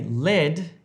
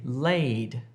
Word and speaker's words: laid: Don't say lead if you're trying to say laid.